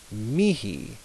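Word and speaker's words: mihi: would be be pronounced look at the I it's like an e so it's Mii Mii and then the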